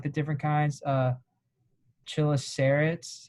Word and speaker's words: chelicerates: And then so going into like the different kinds, chelicerates, how do you say it?